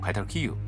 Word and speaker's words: perejil: Dominicans pronounce it perejil, with a trilled Spanish "r."